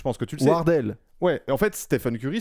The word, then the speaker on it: Wardell: Je pense qu'on prononce Wardell plutôt.